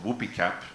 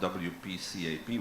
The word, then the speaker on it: WPCAP: climate action program and we say Whoopi cap not wpcap whoopee cap is how you would pronounce it in Italian and it sounds much better whoopee cap than wpcap anyway what has been